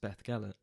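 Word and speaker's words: Beddgelert: After the bus driver ridiculing me for my mispronunciation of what I now know is pronounced Beth Gellet, and his warning of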